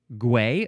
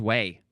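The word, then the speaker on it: güey: Gooey is pronounced like the English word way. Gway? Oh, gway, I guess. Well, there we go. Or no, maybe there's no G sound at all. It's literally just way. The G is pronounced like a W, not a hard G. Way is just way.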